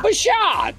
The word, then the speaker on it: Buschardt: Is that how you pronounce his name? Yes. Yeah, Buschardt.